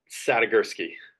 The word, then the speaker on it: Sadigursky: I want to make sure I get the pronunciation of your last name proper. So could you just confirm it with Yeah. me? Sadigursky.